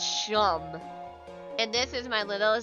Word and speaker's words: Seam: The name's Seam, pronounced Shum.